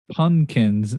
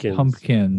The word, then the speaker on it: pumpkins: he he pronounces it he thinks that it's punkins not pumpkins punkins well it sounds like